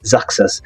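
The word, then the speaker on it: Xerxes: Persia again that that name is hard to pronounce but it's just zakas um again he was a king of that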